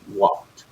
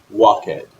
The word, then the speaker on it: walked: not II D hey we pronounce it with a T sound and think about other